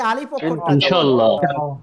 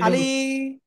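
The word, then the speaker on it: ألف: অনেকেই আপনারা পড়তেছেন আলিফ। ভুল আলিফ আলিফ আলিফ অক্ষরে কোন টেনে পড়া যাবে না। আলিফ আলিফ আলিফ।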